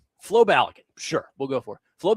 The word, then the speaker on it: Balogun: Florian Balgan. Florian. Okay. I I thought I was saying it right, but Adam Bingan keeps correcting me. You say Flo Balligan. Flo Balagan.